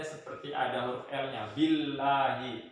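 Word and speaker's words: بِاللَّهِ: Billahi, tipis ya.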